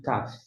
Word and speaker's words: Kaf: Então aqui corresponde ao nosso K, tá certo? Aqui é o K.